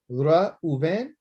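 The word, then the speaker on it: ראובן: Once you be able to say his name, Ra Uven or Uvain, Ra Uvain, Ra Uvain.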